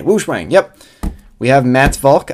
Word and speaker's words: WuShuang: the new 5x5 the I believe pronounced woosh Wang see we got that right there Focus okay woosang yep we have Matt's